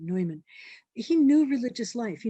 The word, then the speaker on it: Neumann: redemptorist so he knew neumann i guess is how you say his name neumann he knew religious life